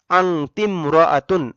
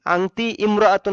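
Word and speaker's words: أنتِ امرأةٌ: আংতিমরাআতুন। আংতি ইমরাআতুন হয় স্বাভাবিক নিয়মে, কিন্তু এখানে আলিফটা উচ্চারণে আসবে না, যার কারণে উচ্চারণ হবে আংতিমরাআতুন। যদি বলি আয়েশা একজন মহিলা, তাহলে হবে আইশাতুমরাআতুন।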